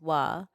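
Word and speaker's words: は: This character which is normally pronounced as ha but in sentences is used as wah.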